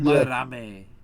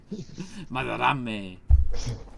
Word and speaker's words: Madarame: Ikaku Marame. His last name kind of comes off more like a Spanish name when you say it because the R is rolled. There, yeah. Marame.